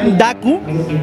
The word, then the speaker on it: Daku: El nombre representativo de la marca, tan sencillo, creado Daku, con acento en la U, con una firmeza